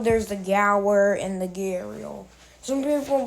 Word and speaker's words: gharial: Like the A, like when I look at this, the A becomes before the. There's no R. There's no R. It's gharial, not gharial. Like you hear the R and there's no R there. That doesn't make sense.